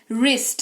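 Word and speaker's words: wrist: बाद आर आ रहा है तो डब्लू का उच्चारण नहीं किया जाएगा जैसे कि डब्लू आर आई एस टी वरिष्ट नहीं रिष्ट पढ़ेंगे रिस्ट है ना कलाई जिसको कहते हैं वरंग नहीं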